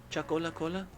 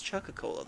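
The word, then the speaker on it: Chuckola Cola: chak wait chakola Cola chakola Cola oh is that how it's pronounced I've been reading that wrong I thought it was Chaka Cola the whole time chakola Cola well why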